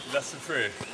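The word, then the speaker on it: La Soufrière: La Sufriere.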